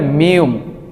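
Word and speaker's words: 미음: তাই না এটাকে কোরিয়ানরা বলে মিউম মিউম মিউম এটার মূল উচ্চারণ হবে ম তারপর আমরা যেটা দেখতে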